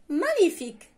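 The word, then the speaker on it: magnifique: رائع مانيفيك، رائع مانيفيك، رائع مانيفيك. تكتبوا كما تنطق فقط لا لتر جي كاينه ما بين ا و ان وبقيه صافي سهله. اذا مانيفيك غنكتب ام ا جي ان اي اف اي وغنزيد حداها ك.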